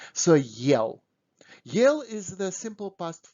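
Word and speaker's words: ел: there is a heart allah so do not pronounce this word with the soft do not say yell because it will be absolutely different word and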